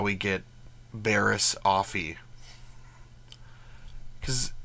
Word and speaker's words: Offee: how we get Barris offy because it's it's spelled like coffee without the C so I mean anyway